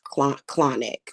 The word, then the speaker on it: Clauneck: Like and I know for a fact, like for example, um I had uh I had summoned Clonic, and it's spelled Clauneck. Is Clonic, okay?